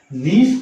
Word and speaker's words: gneiss: वो नीस की चट्टान बनाता है। नीस की स्पेलिंग क्या होगा? GNEISS, नीस बना लेता है।